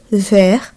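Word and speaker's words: vert: ও এর দ্বারা উদাহরণযুক্ত একটি শব্দ হলো ভের। এখানে দেখুন ভে অ্যালফাবেটের পর ও এর হয়েছে।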